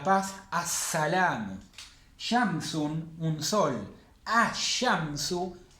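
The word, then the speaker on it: الشمس: Ash-shamsu, el sol. Estoy poniendo el artículo sin pronunciar la L.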